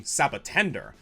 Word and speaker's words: Sabotender: Or you could go by its Japanese name, Sabotender, a mix of the Japanese word for cactus, saboten, and pretender. Same idea, but I also like how it sounds like the word sabotage.